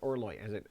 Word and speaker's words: Orloj: Some people, the astrological clock, Orloi. Orloi, yeah. That's everyone saying. You pronounce it Orloi. I'm pretty sure it's like the French horloge.